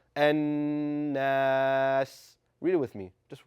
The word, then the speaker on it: An-Nas: So, it should sound an naas.